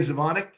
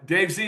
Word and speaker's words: Dave Z: Dave Zavonic. Zeon. Probably screwed that up. Dave Z is actually how it's pronounced weirdly. Okay, perfect. Uh Dave Z is an attorney, strategist,